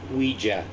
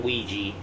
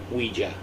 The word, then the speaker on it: Ouija: yeah i found out it's pronounced ouija not ouiji ouija so let's check this